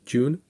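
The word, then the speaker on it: Ğ1: the universal dividends called the G1 or June pronounced June and you can check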